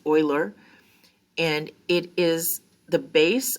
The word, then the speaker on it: Euler: e it is often called euler's number it's pronounced like euler it's this looks like euler or something but it's euler and it is the base of the natural